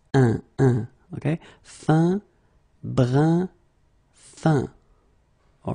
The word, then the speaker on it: brun: All right, brun, same thing, it's not brun, but it's brun.